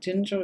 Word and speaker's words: Ginger: Andrea Ginger. Is that how you say it? Ginger is how we pronounce it.